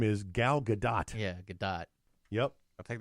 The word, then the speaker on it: Gal Gadot: now I can remember most people pronounce it with a silent T they say gal gadot and her actual name is gal gadot yeah gadot yep I'll